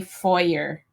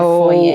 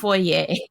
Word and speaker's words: foyer: When Americans say foyer instead of foyer. Oh, yeah. That seriously makes me hardcore cringe. Like, please forgive me, Americans. Yeah. But I don't. It's foyer. It's foyer.